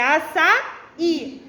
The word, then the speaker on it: açaí: acento agudo é aonde é mais forte é pronúncia se o acento agudo tá no Rio é açaí não é açaí para ser a sai o